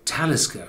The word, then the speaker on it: Talisker: And this name of the distillery on the Isle of Skye pronounces itself as Talisker, with the pronunciation on the first syllable.